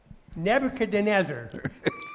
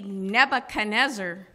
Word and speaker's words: Nebuchadnezzar: Nebuchadnezzar. Well, that was close. You got an extra little syllable in there. That would be Nebuchadnezzar.